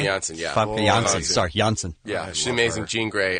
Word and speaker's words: Janssen: Sorry, Janssen.